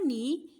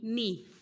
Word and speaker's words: knee: K, knee, K, N, I, knee. In this word, the letter K is silent, like K, N, I, knee.